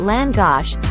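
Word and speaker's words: lángos: in time to Hungary longus pronounced land gosh has a fascinating history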